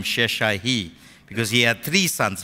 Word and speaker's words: Sheshai: Now the first son's name is Sheshai-hi. Everyone say it, it's a hard name, Sheshai-hi. That's how it's pronounced in the Hebrew.